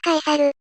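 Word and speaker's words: Caesar: J を I にして、ユリウス、 C を K と読むから、次はカエサル。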